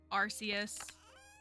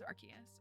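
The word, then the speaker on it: Arceus: people don't know um is that how you pronounce archus that is how the Pokemon company pronounces it I so strongly prefer arus but the official pronunciation is archus oh there's a duck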